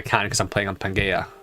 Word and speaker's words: Pangaea: because i'm playing on pangaea pangaea see what i'm using hard g for some reason um i don't